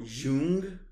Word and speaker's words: Jung: Carl Jung, I believe is the proper pronunciation.